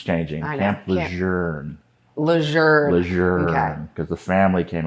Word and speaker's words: Lejeune: Lejeune. Okay. Because the family came out and said, this is how you pronounce it. It's Camp Lejeune, but okay. Lejeune. Yeah. There's no R. No. It's Lejeune.